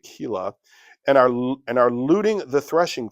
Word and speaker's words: Keilah: are fighting against Keilah," it could be Kyla, but I'm going to pronounce it Keilah, and are looting the threshing floor.